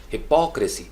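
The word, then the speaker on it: hypocrisy: हिपोक्रेसी नहीं है, हिपोक्रेसी, हिपोक्रेसी, पी ओ सी के ऊपर स्ट्रेस है, लाउड, स्ट्रेस का मतलब थोड़ा सा लाउड किया, हिपोक्रेसी, हिपोक्रेसी, democracy, photography, photography.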